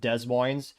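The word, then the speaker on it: Des Moines: de or if you don't know how to pronounce it Des Mo 54.5% for Cala but yeah every other City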